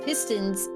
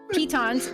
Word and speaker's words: pitons: Eamon takes it upon himself to place pistons to make the trip a little easier for everyone. But Pitons, my bad. Pitons! Pitons. I gotta remember it's like if you pronounce it. Pistons. In Minecraft.